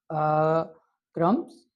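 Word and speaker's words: crumbs: तो सबसे first one है जी the bird is eating bread क्रम्स। तो इसमें जो है बी साइलेंट है, तो इस वर्ड को जो है हमने सर्कल करना है।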